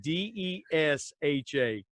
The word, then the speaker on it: Desha: Desha, Desha.